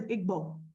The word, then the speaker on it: Igbo: The word is Igbo. It is not spelled E-B-O. It is spelled I-G-B-O, Igbo.